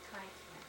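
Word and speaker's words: Keifner: on that charter, and it's written K-E-I-F-N-E-R. And they pronounced it Kiefer.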